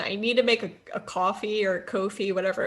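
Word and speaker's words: Ko-fi: i can't i i i've never known if it's pronounced coffee or kofi because it's k-o-f-i coffee because it's it's like that they always say oh buy me a cup of coffee okay but i my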